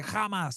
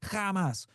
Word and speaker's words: Hamas: Or, well, they say Hamas. That's how the Israelis pronounce it. Hamas.